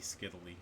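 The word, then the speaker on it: scytale: that was using a skitali. I think it might be skittily. I think it actually rhymes with Italy.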